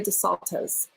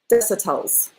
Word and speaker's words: Desautel: Lori DeSantos. Desautel. I said it wrong. Lori Desautel.